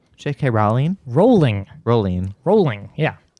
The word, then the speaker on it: Rowling: her name jk rowling rolling rolling rolling yeah how do you say the word bowling boolean yeah and so if